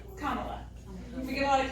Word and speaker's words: Kamala: So a good way to remember it is comma, like the punctuation, C-O-M-M-A, la, Kamala. We get a lot of Camilas, but Kamala is the current U.S.